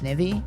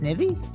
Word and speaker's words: Snivy: How'd you just pronounce Snivy? Is it not pronounced snivey? How else do you pronounce it? Um, it's like ivy.